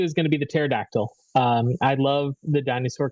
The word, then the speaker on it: pterodactyl: have to add the pterodactyl um you you know why it's dangerous to walk underneath a pterodactyl right why their PE is silent oh don't forget to